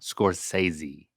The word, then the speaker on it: Scorsese: one you you actually the way you say his last name it's almost like you're adding an accent let's hear that again Martin scorsi scorsi scorsi is how I say it with more of a z sound scorsi scorsi scorsi Mar